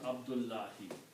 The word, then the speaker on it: Abdullahi: One is the slave, one is Allah, by combining Abdu and Allahi, by pronouncing Abdullahi.